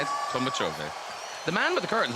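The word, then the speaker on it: Tolmachevy: That's how you say it, Tolmachovi.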